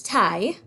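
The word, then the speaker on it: taille: have antai crayon and this word kind of looks like tali but it's thai sounds like a necktie and this word tai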